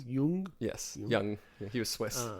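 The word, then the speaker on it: Jung: experted on these but more yian yeah from Young Yung yes young he was Swiss who knows how to pronounce his name well I suppose the Swiss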